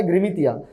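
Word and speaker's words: गिरमिट: आपका हो जाता है ग्रिमितिया। ठीक है, वो अपने आप को वहां पे अगर हम देखें तो these agreements were pronounced by the labourer as गिरमित, इनको गिरमित कहा जाता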